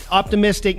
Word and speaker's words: Optimiztiq: in the Sacramento area I don't think but optimistic now for people that are listening that aren't